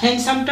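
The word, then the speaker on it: handsome: আচ্ছা, আমি আপনাদেরকে প্রোনাউন্সিয়েশন একটু বলতেছি যে এখানে আপনি হ্যান্ডসাম বলবেন না, অনেকে কিন্তু হ্যান্ডসাম বলে, ঠিক আছে? এটা কিন্তু হ্যান্ডসাম হবে, ঠিক আছে? হ্যান্ডসাম, হ্যান্ড ডিটা উজ্জ, বাট লিখতে গেলে ডিটা লিখবেন, বলার সময় ডিটা উজ্জ করে রাখবেন।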